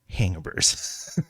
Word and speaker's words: Hangaburs: and that is you heard that right it's pronounced hangabur so this is a um a popup uh